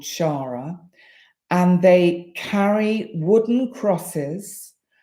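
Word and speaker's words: Xagħra: just up the road called Shara it's spelled shagra which is x a g h r a and um no funny comments please keep a straight face and anyway in Shara they enact the um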